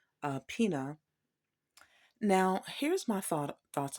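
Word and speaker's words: César Pina: DJ Envy and someone some people call him Caesar uh Pia but I heard another pronunciation of Cesar Pina now here's my thought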